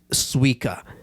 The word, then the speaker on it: Suica: And another one in Japan is if you're gonna get around Japan, get Suica.